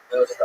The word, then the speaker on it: Wilshire: Okay, how do you pronounce Wilshire? Wilshire.